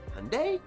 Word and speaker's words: Hyundai: 9th is Toyota, who lost 3 spots since last year, and 10th place is Hyundai, which rhymes with Sunday.